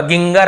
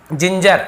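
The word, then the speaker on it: ginger: जी आई है तो ज, गी नहीं होगा, गिंगर ऐसे नहीं होगा, जिंजर ऐसे होगा।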